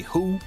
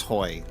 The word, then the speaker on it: Hoi: Do I just say who? Oh my god, it's a baby. Whoa. I'm doing it correctly, it's just funny. So it is Hoi.